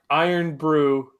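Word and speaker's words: Irn-Bru: Iron Brew is how it's pronounced.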